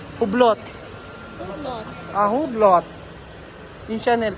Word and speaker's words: Hublot: Ano pa pronounce? Hublot.